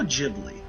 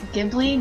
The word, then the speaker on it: Ghibli: The category is Studio Ghibli. In The Wind Rises, protagonist hero Jiro designs what? I've never seen this film. You also said it wrong. Isn't it Ghibli, not Ghibli?